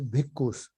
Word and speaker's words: bhikkhu: Actually, it is bhikshu, but they pronounce it in Pali as bhikkhus.